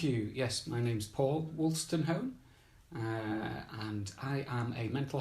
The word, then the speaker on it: Wolstenholme: Wolstenholme. Wolstenholme, yes, as in Kenneth.